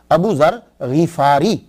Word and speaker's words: ابو ذر غفاری: غین کے اوپر زبر اور فا پہ شد نہیں ہے. یہ اصل میں کیا ہے کہ یہ غفار ہے، غین کے نیچے زیر ہے، فا کے اوپر سمپل زبر ہے، تو غفاری. تو صحیح تلفظ یہ ہوگا ابو ذر غفاری.